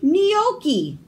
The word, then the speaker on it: gnocchi: G is for gnocchi. The gnome yells, "Waiter, there's a bright white gnat nibbling on my gnocchi." The silent G.